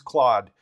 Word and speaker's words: Claude: And that particular one is, I'll open that one up, that one's Claude. And that's how I pronounce it, Claude.